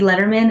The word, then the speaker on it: Lederman: At MT Lederman, and it's LEDERMAN. It sounds like David Letterman. We say it the same, but spell it differently.